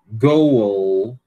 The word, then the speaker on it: goal: Então, ó, go, goal, você tem que pronunciar o L, OK?